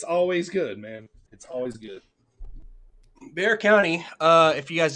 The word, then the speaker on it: Bexar: day and made it thund to do in Bear County justtin San Antonio okay they play for flag huh I've like I've I've been to San Antonio many times and I always thought it was Bexar County that's how I pronounce it every single